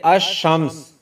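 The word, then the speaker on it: الشمس: जैसे आप देखिए, अश-शम्स जब पढ़ेंगे तो अलिफ लाम खामोश होगा, यानी साइलेंट हो जाएगा, तो खामोश हो जाएगा, और हम पढ़ेंगे अश-शम्स यानी अलिफ लाम साइलेंट।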